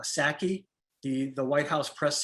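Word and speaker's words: Psaki: when i see jen i believe you pronounce it uh saki the the white house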